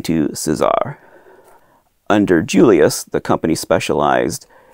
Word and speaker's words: César: like those news reports they pronounced his name Julius Caesar even though they pronounced the company Cesar so I'm going to